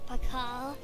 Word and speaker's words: Pakal: There's no need to be like that, Uncle Pakal. Ah, finally someone whose name is pronounced at the way he's written, Pakal.